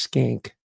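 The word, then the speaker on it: Schenck: it's spelled s c hen c k it's pronounced skink Nicholas and Joseph and the subtitle is power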